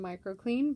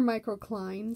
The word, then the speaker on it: microcline: towards oath of ortho clays more so than microclean but um or microcline sorry i always mispronounce that um but yeah either way they